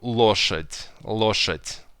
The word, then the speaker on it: лошадь: Yeah, and you can listen that I don't pronounce лошадь. It's not лошадь, but it's gonna be de, which you pronounce like te. So it's hard and it's soft sound. So t, лошадь instead of лошадь.